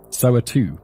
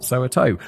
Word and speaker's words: Soweto: Soweto, not Soweto. Oh, I've always pronounced it Soweto, but apparently it's Soweto.